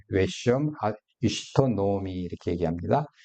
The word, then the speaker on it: 나오미: 아니겠느냐 이렇게 이제 보입니다 그래서 그의 아내 이름은 나오미 웨시 시토 노미 이렇게 얘기합니다 그 엘리멜렉의 아내 이름은 나오미 노미라